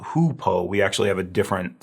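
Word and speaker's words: Hou Po: on this one please please do not say who Poe a lot of people uh English speakers at least will see this and they might think it's pronounced like u y o u but it's it's not hupo we actually have a different substance called hoopo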